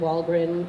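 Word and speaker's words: Wahlgren: It's Kari like Ferrari and Walgren like, what rhymes with Gren? Friend.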